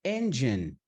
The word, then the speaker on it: engine: Então, para falar motor, vai ser engine. Tem 2 sílabas só.